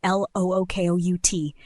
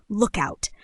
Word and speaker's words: lookout: Aussies smash it into a single fluid compound word, lookout. Exactly. Put the strong stress on the first syllable look and let the out drop off quickly.